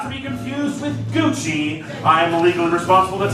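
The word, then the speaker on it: Gooschee: Not to be confused with Gucci, I am legally responsible to tell you that this is spelled G-O-O-S-C-H-E-E.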